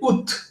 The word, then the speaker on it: août: Normalmente recuerden que la T final no suena, pero en este mes sí suena. Se dice ut. La A no suena.